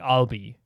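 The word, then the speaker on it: Ahlbi: but his name is Albi. Instead of Albi, it's like I'll be so pronounc I'll be like as in I'll be your guide.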